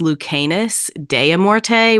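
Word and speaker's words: Lucanis Dellamorte: chat but just for the listeners it is pronounced lucanus deam morte which I mispronounce like when we first learned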